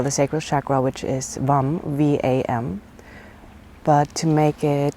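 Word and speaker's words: vam: and your neck so it's usually pronounced Vang v-a-n-g so your whole head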